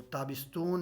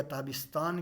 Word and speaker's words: تابستان: تو تابستون یا تابستان کہتے ہیں موسم گرما کو، تو تابستون اس کا آپ نے تلفظ کرنا ہے، تو ہوای فصل